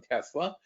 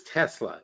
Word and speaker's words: Tesla: It was Tesla. It's pronounced Tesla. It was never pronounced Tesla. Tesla is an incorrect pronunciation.